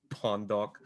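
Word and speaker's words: lpondoc: i do is just retweet things it's at l pawn dog which is not as it's pronounced um it's about l-p-o-n-d-o-c i've made this joke too many times if you want to pronounce it it's technically pronounced pondok um that's that's not great um so yeah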